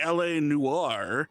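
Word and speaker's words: L.A. Noire: I'm going to introduce to you running LA Noir. That is how you say that name, that word. I heard it pronounced something weirdly the other day by somebody not in this event, but something weird.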